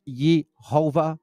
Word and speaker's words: Yehovah: Now the e is high. The o has a arrow up and the a has an arrow up defining how to pronounce these names. Yeho. You see that? Yeho and then va.